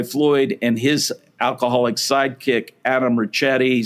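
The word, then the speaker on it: Richetti: Now, on the morning of June 16th, Pretty Boy Floyd and his alcoholic sidekick, Adam Ricchetti, some people pronounce it Ricchetti, they were in the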